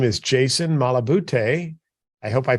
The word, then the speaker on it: Malabute: with us today, and his name is Jason Malabute. I hope I pronounced your last name correctly, Jason.